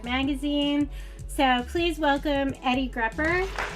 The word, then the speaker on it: Grupper: So please welcome Eddie Grupper. How are you today? Oh, I'm good, Sarah. Very much, thank you. A note, it's pronounced grouper, like the fish.